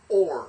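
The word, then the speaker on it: אור: Shame is name, or Shem is name. And then this is or. Remember, Aleph is there's no real pronunciation, so it's just the Holam, Vav, and the R.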